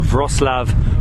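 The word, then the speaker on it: Wrocław: frostlav poland i feel like my pronunciation is getting there that is so noisy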